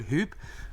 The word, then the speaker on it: Huub: If you click on the link sur, however you want to pronounce my name, or use code hoop, that's actually how you pronounce it.